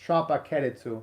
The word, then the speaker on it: Tropical-Rouge: Oh, and thank you very much, Michael, for the Japanese pronunciation of tropical, where at least in Japan they pronounce it as Tropica-Rouge.